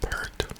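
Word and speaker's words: Peart: Lee Alex lyson and Neil per or Pier depending on how you pronounce it this is my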